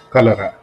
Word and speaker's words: cholera: For example, cholera. Cho, cholera starts with ch, but we'll still call it. It will still sound like k, cholera, right?